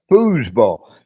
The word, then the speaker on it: foosball: that again boo ball booze as in as in booze booze but with an F booze ball it's it's a table